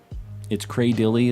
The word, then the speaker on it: Cradily: I'm trying to read cray Dilly Craig Dilly is how you're supposed to say it I hate it